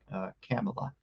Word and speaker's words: Camilla: And the way Cammy's parents actually pronounce it is Camilla, like Pamela, but with a C.